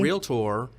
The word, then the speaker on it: realtor: the right realtor because the right realtor two syllables real tour the right realtor is